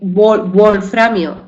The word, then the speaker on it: wolframio: se pronuncia como B porque volframio es una palabra de origen alemán y se escribe y